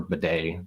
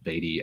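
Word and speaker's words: Badie: pronounce that guy's name I've been told I do it wrong but it's bad I believe okay like like the like the thing that you hook up to the toilet okay yeah exactly like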